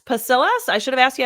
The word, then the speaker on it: Pasillas: and that is pasas pacillas I should have asked you how to say your last name you want you want to tell me how to say it it's pasas yeah you nailed it right there to be